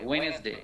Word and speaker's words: Wednesday: Tuesday, Wednesday, Wednesday, signal, Wednesday, Wednesday. D will remain mute. D pronunciation ta kom thakbe, Wednesday.